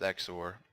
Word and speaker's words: XOR: And that's pronounced XOR. It's spelled XOR.